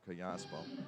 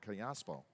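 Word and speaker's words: Callaspo: the outside corner and kiaspo it is nothing in one c a double l asp of course in the spanish language double l is pronounced similar to a y and in some dialects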